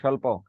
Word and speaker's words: স্বল্প: তারিবস্য ক্লেশ, দন্তার শয় ব ফলা লয় পয় স্বল্প।